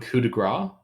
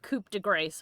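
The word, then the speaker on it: coup de grâce: You want coup de grace? I called it Coupe de Grace when I was little. I mean, that's how it's spelled.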